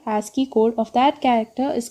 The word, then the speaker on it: ASCII: The code ASCII, that is it is ASCII. It is pronounced as ASCII, which stands for American Standard Code for Information Interchange, uses 7-bit to represent each character in computer memory.